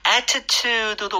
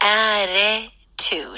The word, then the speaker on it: attitude: Attitude도 가능은 하겠지만 중간에 좀 flap 때문에 부드러워지는 것 같아요. 네. 그쵸? Attitude.